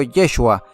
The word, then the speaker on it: Yeshua: lejos allí está jesucristo su nombre en hebreo se pronuncia de hecho yeshua pero como le decimos jesús